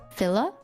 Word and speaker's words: Fila: that is interesting is feel filler is how you pronounce it Fila that